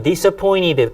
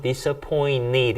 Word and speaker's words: disappointed: 그 다음 disappointed 굉장히 많이 나옵니다. 참고로요, 요런 이제 T 발음이나 니 발음 같은 게요, 약해져가지고 disappointed라기보다는 disappointed 이런 식으로 발음이 되게 약하게 되는 경우가 되게 많이 있어요.